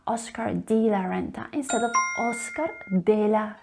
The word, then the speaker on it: Oscar de la Renta: Now, the English native speakers might encounter it difficult to pronounce the letter E as a wide E sound. They tend to say Oscar de la Renta, Oscar de la Renta, instead of Oscar de la Renta.